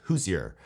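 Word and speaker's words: Hozier: It's called Take Me to Church by, I think it's pronounced Hoosier.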